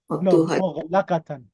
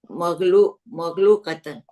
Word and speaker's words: مغلقة: مغلقة. مفتوحة is open. Is open. So كانت مكتبة مغلوقة. No, مغلقة. مغلقة.